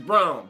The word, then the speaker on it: Braun: It's Brown. Brown is playing a hell of a game. It's spelled like Braun, but it's pronounced Brown.